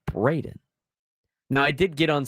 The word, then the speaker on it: Braden: There are many differences of Brandon, Brendan, and Braden. A lot of our callers still call me Brandon.